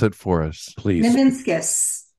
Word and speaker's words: Nivinskus: it for us please ninus ninus just like it's spelled right it is it is it's phonetically correct it's just letters so